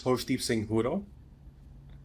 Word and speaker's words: Harshdeep Singh Hura: name for us uh my full name is HDE sing huro Singh huro okay a lot of people